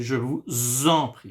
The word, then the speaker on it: je vous en prie: I say je vous en prie. Why? Because here, it ends with S, and here it starts with the letter I.